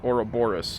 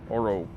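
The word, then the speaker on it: Ouroboros: minor detail but a snake devouring its own tail is oraoris, not orrooris.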